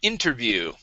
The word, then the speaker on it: interview: Okay, let's go to the word interview. Okay, so our stress is at the very beginning here.